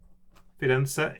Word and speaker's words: Firenze: So Firenze. Firenze. That is Firenze in Italy. Florence, of course, we say in English. Firenze is actually very close to the Italian pronunciation of the city.